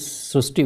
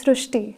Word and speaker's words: Srushti: unique name srusti so in Marathi the word re is pronounced as Rue so that is why the pronunciation goes srushti so hereby the spelling